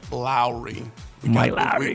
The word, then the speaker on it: Lowry: name because I think all of us have gotten the last name wrong so we're going to make sure that it's Lowry we got this now